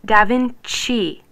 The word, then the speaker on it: Da Vinci: That's because when C comes before E or I, it's pronounced CH. Look, how do you pronounce this word? Cello. Yep. What about this one? Right, Da Vinci, CI.